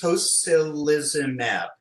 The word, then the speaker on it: tocilizumab: If you could give me the pronunciation of the one I mentioned to you before, again, tocilizumab? Sure, it's tocilizumab.